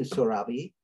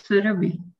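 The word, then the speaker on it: Surabhi: So I'm going to start with you, Sorabi. And how is it pronounced? It's Surabi.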